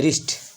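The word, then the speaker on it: wrist: है अच्छा ठीक है इसलिए यहां पर डब्लू डब्लू लेटर डब्लू अकेला रहेगा चुप रहेगा साइलेंट रहेगा इसको हम अगले अक्षर से इसका उच्चारण करेंगे इसे पढेंगे रिस्ट आप समझ गए ऐसे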